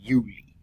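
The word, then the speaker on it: Iuli: like marcus becomes market but names the n and the ius become the letter i pronounced e so like julius julius would become yuli or tulius would become dooley we also see our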